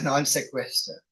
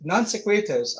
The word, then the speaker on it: non sequitur: When it is not, you call it a non sequitur, or that's how you write it. I don't know what the exact pronunciation is.